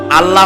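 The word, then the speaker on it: الله: নাম আল্লাহ বলেন তো আল্লাহ নয় কিন্তু আল্লাহ হচ্ছে অশুদ্ধ শুদ্ধ হচ্ছে আল্লাহ বলার সময় মুখটা গোল হয়ে যাবে বলেন তো সবাই উচ্চারণ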